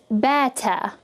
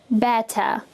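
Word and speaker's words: بطة: And I'm going to pronounce it as bata, bata. So we know that ba and alif would make the ba sound, and then the last part of that word is ta.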